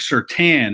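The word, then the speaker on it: Surtain: the alabama crimson tide and um it's patrick certain is how the last name is said i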